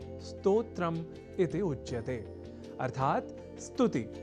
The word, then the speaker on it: स्तोत्र: अर्थात स्तोत्र में अर्ध सकार के बाद त और ओ इन दो अक्षरों का संयोग है। और इसके बाद त्र इस संयुक्त अक्षर का। यदि हम यह ध्यान में रख लें तो कभी भी स्तोत्र के स्थान पर स्त्रोत्र या स्त्रोत जैसे उच्चारण या लेखन हमारे प्रयोग में ही नहीं रह सकेंगे।